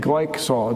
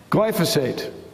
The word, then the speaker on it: glyphosate: which has a name, glycosol. Does anybody know the name? Help. Glyphosate. That doesn't quite, I didn't say it right. It's a GLY word, and it's important.